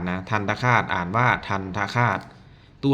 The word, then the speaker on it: ทันตฆาต: ที่ ใช้ ทัน คาต อัน นี้ อ่าน ว่า ทัน คาต นะ ทันตฆาต อ่าน ว่า ทัน คาต ตัว ที่ ใช้ ไม้ ทันทะ เรียก ว่า ตัว